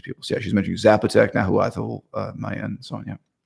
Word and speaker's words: Nahuatl: Nahuatl, it's pronounced. You don't pronounce the L. It's Nahuatl, something like that.